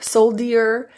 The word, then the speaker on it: soldier: But just to make a note that in this word, that D is adjusted and changed, and it will sound like jur instead of dear. Soldier, soldier, like a J.